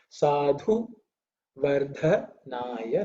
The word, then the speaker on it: Sadhu Vardhanaya: There are two dha. Both of them are the fourth letter in the tha varga, which means it should be pronounced with aspiration, with a little bit of air, effort.